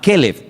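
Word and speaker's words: כלב: Para diferenciar el nombre del perro se pronuncia diferente, pero se escribe igual.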